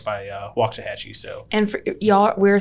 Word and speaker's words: Waxahachie: And I live in Red Oak, but right there, right by Waxahachie.